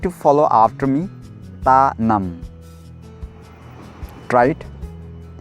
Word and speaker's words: Tanamn: Tanam. Try it. Tanam.